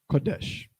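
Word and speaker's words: קדש: is how we look quadash quadash if we would write it into Syrian letters but in Yiddish modern Hebrew this word is pronounced like this Kadesh the problem is first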